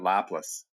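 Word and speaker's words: Laplace: I pronounced it lapless. Lapless. Yeah. Oh yeah, that's right. Lapless.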